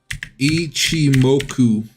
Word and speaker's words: Ichimoku: to the date chart Ichi moku ichimoku I think that's how you pronounce it ichimoku um it's on